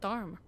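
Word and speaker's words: Tharum: Oh, they pronounce it Tharm.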